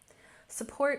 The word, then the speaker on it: support: Support, we emphasize the second syllable, support. Support.